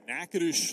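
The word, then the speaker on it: Natchitoches: State in Louisiana at nades Louisiana that is correct probably one of the most mispronounced College city names you'll ever see because the spelling is nothing like the pronunciation no but it is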